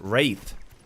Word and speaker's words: wraith: a lot of sense it's pronounced wraith ah so you don't really put any emphasis on the W just like sword the more you know